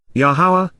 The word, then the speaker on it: Yahowah: presence of laana in direct opposition to yahawah yahawah the proper pronunciation of the name of yahovah aroa God